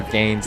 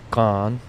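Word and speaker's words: Gane: how you pronounce cyril gaines last name and i've been saying gain yeah i think john was saying it's gone or isn't it ganks he said it's like gun yeah gone so gone yeah cyril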